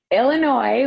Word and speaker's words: Illinois: chicago illinois hi wendy illinois with silent s sorry for the record